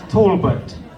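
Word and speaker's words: Taulbut: It's Tolbert. Tolbert. It's spelled unusually, but it's Tolbert. Tolbert. See, I apologize, but it's spelled T A U L B U T. There's a there's the silent R in there.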